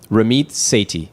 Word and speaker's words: Ramit Sethi: Rammit Sati.